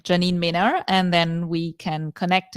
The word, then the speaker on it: Mehner: Mehner.